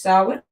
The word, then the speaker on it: Samhain: Samhain, usually pronounced Samhain, is one of our 4 greater Sabbats, the highest holy day of witches.